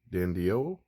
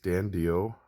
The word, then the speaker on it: DiDio: did say it, but it's DiDio is what I believe is how it's said.